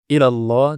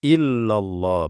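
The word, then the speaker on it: إلا الله: ilahaillallahallah tidak boleh ya ilallah tidak boleh nanti maknanya berbeda maknanya rusak ilallah harusnya illallah pengecualian ya pengecualian tidak ada sembahan yang benar tidak ada sembahan yang berhak untuk di i kecuali ini Illah ini penafian ya harfun Nafi pengecualian Jadi pakai tasdid pakai tasdid Iya kemudian lafzul jalalah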